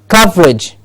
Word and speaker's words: coverage: Coverage. Cov gets the stress.